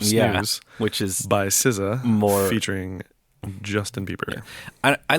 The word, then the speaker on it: SZA: But it's pronounced SZA. I know. I was talking to Gladwell about it, about SZA, Mm-hmm. and they were like, I didn't know how to pronounce that at first. Yeah, I heard it pronounced at some point. I mean, it follows with like RZA. RZA and Jizza from Wu-Tang Clan.